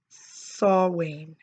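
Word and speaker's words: Samhain: it was that uh festival called sawing and I have trouble with that word because it is spelled totally different than what how it's pronounced and so you know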